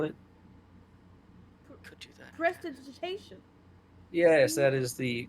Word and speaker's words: Prestidigitation: Prestidigitation. Yes, that is the correct pronunciation of Alright the then.